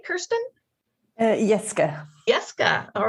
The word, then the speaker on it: Jeske: Do I pronounce the J, Kerstin? Jeske.